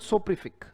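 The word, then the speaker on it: soporific: The word is सोप्रीफिक, right. तो सोप्रीफिक पढ़ा जाएगा सोप्री, राइट। सोप्रीफिक, सोप्रीफिक, ये उच्चारण है इसका, सोप्रीफिक।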